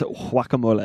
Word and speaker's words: guacamole: he said it wrong if you pronounce it in the Spanish way of saying it it is wacamole so if you pronounce